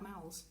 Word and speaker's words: Mowl: need to know about Mowls. "And make sure you say his name right or he gets really huffy. Just remember this. How now, Brown Mowl?"